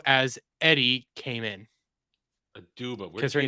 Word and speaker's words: Aduba: face, and that it was I said her name wrong. Abdu as Eddie came in. Aduba.